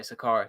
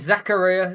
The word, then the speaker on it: Zakaria: sure because he Swiss I pronounce it German way but that doesn't necessarily mean that's the true way so you say however you want uh is Zachariah Zakaria um he's tackled his